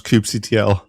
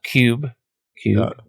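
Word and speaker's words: kubectl: How do you pronounce cubectl? Uh cube cube because it should be cubernetes, but I've lost that war a long time ago. There's some different variations. Some people say cubectl, which is what I said.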